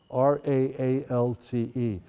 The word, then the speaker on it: Raalte: Finally gets to a town called Raalte, R-A-A-L-T-E. What's nice about the Dutch language is you can roll your R's, Raalte.